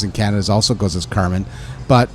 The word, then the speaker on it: Carmine: i it's pronounced i i've always pronounced it as carmen and uh even my older cousin is still here uh who lives in canada also goes as carmen but it's spelt like